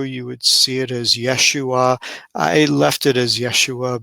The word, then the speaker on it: Yeshua: this in the cereal the yode would be somewhat silent and acquiesce to the to the vowel and some would pronounce it ishu i've heard that i've